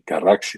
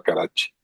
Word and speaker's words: Carraxi: la segunda cerrada de Carraxi le decíamos. Creo que después aprendí que se pronunciaba carache.